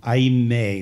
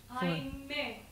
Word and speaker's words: aime: I may. There's an accent on the E. I may. Right. So yeah. You can double the M. Aime.